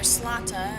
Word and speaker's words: Zlata: Well, the ones that are crossing my mind are the Zlata, or Slata. I've learned that that's how you're supposed to pronounce it, I guess.